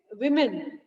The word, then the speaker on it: women: Remember, children, this word is woman, and there is difference of pronunciation between these two. It is woman, woman, and it is women. Plural is women.